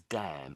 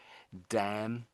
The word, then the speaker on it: damn: Um so this word here is damn. And I think so the sound wasn't quite there. So damn. So the the N is silent really.